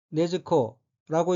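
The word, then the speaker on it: 禰豆子: 다음 한자는 한국어로 이두자이고 일본어로는 네즈코라고 읽으며 네즈코는 등장인물 중에 한 사람인 탄지로의 여동생입니다.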